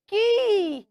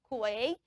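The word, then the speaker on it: quay: So the word Q-U-A-Y is pronounced ki. It shocked you? It's shocking me too when I discovered. So the right pronunciation of that word is not kue, it is ki.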